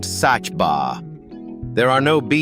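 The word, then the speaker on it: Saba: At number three, we do something wonderfully unexpected and trade sand for altitude, climbing a tiny volcanic peak pronounced Sachba.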